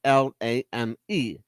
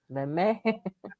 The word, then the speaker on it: Lamy: It's Lamy, but it's pronounced Lame. Lamy. Leme.